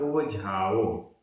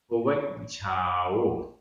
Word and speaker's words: उवज्झाओ: अगर यहाँ पर केवल झा रहता और आधा जा नहीं रहता तो बोलना पड़ता उवझाओ, लेकिन यहाँ पर आधा जा भी है। जा और झा ये संयुक्त अक्षर है तो हम बोल रहे हैं, उच्चारण आएगा उवज्झाओ।